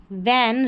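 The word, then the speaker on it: when: वैेन पढ़ा है इसको डब्ल्यू एच एन को वेन यहां पर एच साइलेंट रहता है व्हेन Ravi hand H ए एन डी को हैंड पढ़ते हैं।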